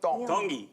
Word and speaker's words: Tongi: My name is Iam Tongi, and I'm from Kahuku, Hawaii. Iam Tongi. Tongi. You pronounce the T's like a D in the Tongan culture.